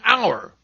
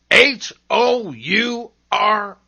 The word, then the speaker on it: hour: i know this drill at the beginning of some words h is seen but not heard as in hour h o u r hour other words that begin